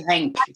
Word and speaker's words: Henk: I'm sorry for my maybe not correct pronunciation. Just say Henk.